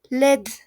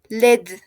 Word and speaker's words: laide: Y su femenino, como tiene E, y no se pronuncia porque no tiene tilde, el sonido pasa a la D. Entonces es led, led.